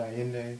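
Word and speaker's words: Ayinde: But it's, it sounds like it's I-Y-I-N-D-A-Y. But it's A-Y-I-N-D-E.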